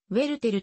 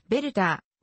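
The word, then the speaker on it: Werther: 明治時代であり舞台発音に準拠しウェルテルと表記される現代の標準的な候補ドイツ語による発音はヴェルターベアたーーーーがより近い作品は 2 部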